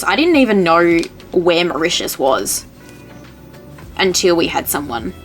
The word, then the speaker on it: Mauritius: I didn't even know where Mauritius was until we had someone buy from there. Oh, and I didn't even know how to say it. Yeah, we're like Mariatis. Mariatis.